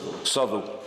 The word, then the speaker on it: Southwell: Apparently Southwell is pronounced properly Southwell. I'm sure he's right, absolutely. It's a bit like Flitwick, isn't it?